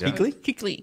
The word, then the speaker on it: Kuechly: Kuechly.